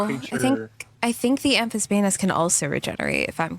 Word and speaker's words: Amphisbaena: Amphisbaena. Okay, that's how you pronounce it. You know, Yeah, same idea. Amphisbaena. I remember it because it's spelled kind of like Banery, but it's not.